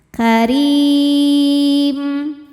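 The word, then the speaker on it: كَرِيمٍ: Wala karim. Huruf ra dibaca secara tarqiq karena berharokat kasrah maka dibacanya tipis. karim.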